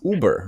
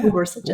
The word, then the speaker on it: Ubersuggest: How do you pronounce it? I think it's Uber, right? It's Uber. like Uber. Sorry, I think it's from the German, like Uber.